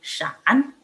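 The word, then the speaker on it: 闪: Nah, kilat di sini adalah shan, shan, gitu cara bacanya.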